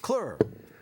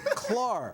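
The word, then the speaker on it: Claar: Kelly Clur, right? No. Clar. Thank you.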